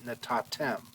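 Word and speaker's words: נתתם: we've got natan but the noon the noon with a silent shabbat is going to assimilate into the next consonant so instead of natan tem we get natatem all right so um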